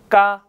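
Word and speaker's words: 까: exist in English so when we pronounce these doubled letters we just want to make the sound a little stronger than normal all right so let's try to read GG a gah it's not case sound right so gah perfect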